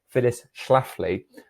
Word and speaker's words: Phyllis Schlafly: schlafly although she was a woman get the pronunciation right phyllis schlafly although she was a woman she did not